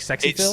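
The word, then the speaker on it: SXEPhil: Phil SX e Phil is that supposed to be pronounced like Sexy Phil it's sexy yeah for sure Sexy Phil a 2009 sxe Phil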